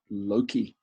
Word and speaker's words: loci: ancient memory method called the method of loci, or as some people pronounce it, loci, which is a plural form of locus, the Latin for locations or places.